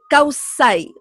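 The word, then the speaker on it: Kawsay: Kausai, o sea, se escribe con K y con doble U, Kausai, y termina con Y.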